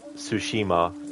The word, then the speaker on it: Tsushima: true or not, but when they say Tsushima in this, they don't really pronounce the T. It's more just the S sound.